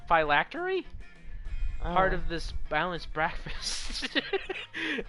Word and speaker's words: phylactery: it's delicious what how do you say that dilactory phylactery part of this balanced breakfast it's lunch you're